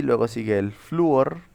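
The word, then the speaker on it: flúor: y luego sigue el fluor, que es con acento en la U.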